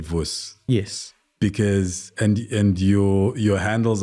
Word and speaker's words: Vus: Because in high school, I decided that my name is Vus, as in VUS, not VUSI, which is how it's generally written and pronounced.